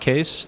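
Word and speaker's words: Kees: quick intro um I'm case uh it's pronounced case the spelling is Dutch and it's my grandfather's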